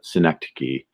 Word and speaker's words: synecdoche: yeah yeah yeah and I've heard it pronounced Synod o Qi but I could be mistaken it is synecdoche synecdoche okay yeah so you